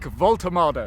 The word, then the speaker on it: Woltemade: Nick WOLTEMADE. I can't, for some reason, because his name's spelt so differently how it's pronounced, my brain cannot compute this.